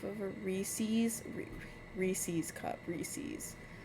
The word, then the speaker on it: Reese's: Reese's. It's Reese's cup. Uh, people in my state say Reesei Cup and it pisses me off.